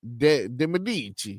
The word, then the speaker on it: De Medici: De Medici. You got to say it like that.